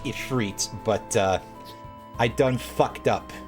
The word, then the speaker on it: Ifrit: pardon me that probably should be should be pronounced Ifrit but uh I done